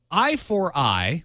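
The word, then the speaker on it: i4i: it's a lot of everything yeah uh so I4 I which is spelled I the number four and then the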